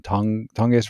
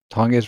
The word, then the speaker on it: Tonges: like Taylor versus Denver, Njoku versus Pittsburgh, even Tonges versus Denver. Taylor versus Denver, Njoku versus Pittsburgh, or even Tonges versus Tampa Bay, San Francisco tight end. Can't pronounce Jake his last name. Tonges, yeah. Tonges, that's it.